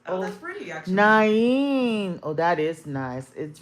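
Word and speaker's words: Nain: Naen is how it's pronounced. Oh, that's pretty actually. Naen. Oh, that is nice. It rolls off the tongue. Naen.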